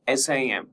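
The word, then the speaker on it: SIEM: Merging security information management that is SIM and security event management SEM and pronounced SIM with a silent E.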